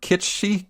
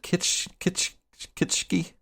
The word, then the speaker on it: kitsch: Wow, this is, I believe the word kitschy comes to mind. How do you pronounce it? Kitschki?